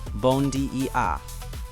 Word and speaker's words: Bom dia: Bom dia. Pronounced bon d e a.